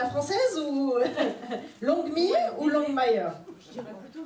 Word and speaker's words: Longmire: Alors, est-ce qu'on le prononce à la française ou Longmire ou Longmire? Je dirais plutôt Longmire.